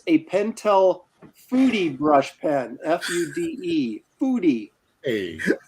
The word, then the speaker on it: Fude: The e is spelled. It sounds like an a, so it's like foodie. Maybe. That sounds a little like French, though, doesn't it? Like Fude, but it's Japanese, so it'd be Foodie.